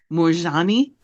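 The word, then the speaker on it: Moorjani: a n i okay how do you say it morani oh Moran okay cool because I I just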